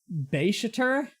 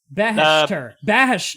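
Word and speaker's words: Baheshtur: Alright, how do you pronounce this guy's name? Beishater? No. Bahashter.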